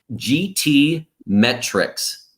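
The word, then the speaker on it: GTmetrix: me make sure that i say it properly gt metrics g-t-m-e-t-r-i-x dot com is a great free tool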